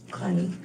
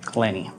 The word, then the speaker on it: Clenney: And your last name, how do you pronounce it? Clenny. Clenny.